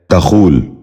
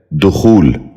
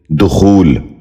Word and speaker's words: دخول: غور سے سنیے، دانش۔ تیسرا لفظ ہے دخول۔ یہ غلط تلفظ ہے، درست تلفظ ہے دخول۔ دوبارہ سنیے، دخول۔ بچوں آپ بھی غور